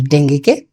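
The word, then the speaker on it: dengue: আমরা জানি উচ্চারণটা ডেঙ্গু নয়, ডেঙ্গি। সারা পৃথিবীতে ডেঙ্গি বলে, কিন্তু বাংলাদেশে কি বলি?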